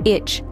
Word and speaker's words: ich: Say ich, soft ch, and then Buch, hard ch.